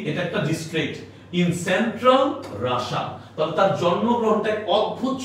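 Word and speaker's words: Russia: হাসি উঠতেছে, হাসলেও কিছু করার নেই, মানে রাশান তো বুঝতে পারতেছো, রাশিয়া চিনো তো, রাশিয়া, তাই না? বাংলায় রাশিয়া, ইংলিশে বলে রাশা। তাহলে কি দেখো, আলটিমেটলি এটা একটা ডিস্ট্রিক্ট ইন সেন্ট্রাল রাশা, তবে তার জন্মগ্রহণটা এক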